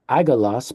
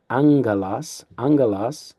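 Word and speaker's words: ἄγγελος: Now we see that double gamma, which makes it not agalos, but angelos for angel or messenger.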